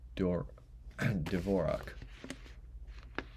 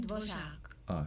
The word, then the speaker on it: Dvořák: Symphony Number 9 in E minor from the New World, aka the New World Symphony, was composed by Antonin Dvorak. Pronouncing this right? Dvorak. Antonin Dvořák.